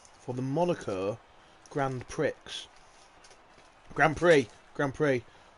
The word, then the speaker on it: Grand Prix: Grand Prix. I forget the X is silent sometimes.